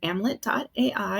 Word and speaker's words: Amlet: Yeah, you can actually go to amlet.ai, and it's Amlet rhyming with Hamlet, because our founder had this he just didn't want life for authors to end in tragedy.